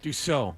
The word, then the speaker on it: Dussault: How do you pronounce his name? Last name? Mike's name. Your friend. Dussault.